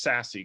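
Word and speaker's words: SASE: access Services Edge uh you'll hear it pronounced sassy quite a bit I would actually like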